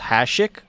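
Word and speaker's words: Hašek: There's an accent. It's pronounced Hasek.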